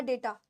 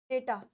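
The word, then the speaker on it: data: है बच्चे डाटा या डेटा डेटा य डाटा नहीं होता डेटा होता है डेटा यानी समान फॉर्मेशन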